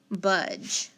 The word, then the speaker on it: budge: i underline it but the d is silent the e is silent and then i need to put a dot on the g to make it say the j sound then i've got a